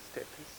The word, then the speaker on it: steppe: In the Western world it was the prairies, in Russia it was the steppes. I don't know how to pronounce that.